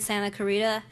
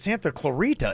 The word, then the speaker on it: Santa Clarita: 10 McDonald's here in Santa Clarita and no I don't think she's even saying that right it's Santa Clarita is it not I